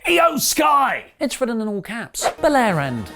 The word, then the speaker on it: IYO SKY: set up Bianca vs IYO SKY in a singles match later on. Sorry, I think I pronounced that wrong. I want to properly get Japanese wrestlers names correct. It’s actually pronounced IYO SKY.